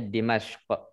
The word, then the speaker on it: Dimashq: Kita bacanya Dimashq. Kita sukunkan harokat terakhirnya.